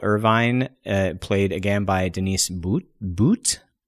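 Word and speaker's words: Boutte: played again by Denise boot I looked up the pronunciation it seems to be boots it's French Eduardo Dorado senior Bruce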